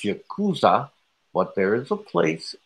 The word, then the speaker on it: Yakuza: crying man he's like he's like I thought you kusa yeah that's pronounced Yakuza but there is a place in Japan called